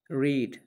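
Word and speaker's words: read: एंड पुट रीड पढ़ना second form spelling same है लेकिन इसको पढ़ा जाएगा प्रोनाउंस कि जाएगा रेड रा भी थर्ड फॉर्म भी प्रोनाउंस की जाएगी रेड नी रीड रेड रेड हालाकि स्पेलिंग सेम है रिसाइट तिलावत करना रिसाइट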